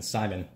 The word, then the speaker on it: Simon: By Seaman, I mean Simon, not Viral, who pronounces it like that.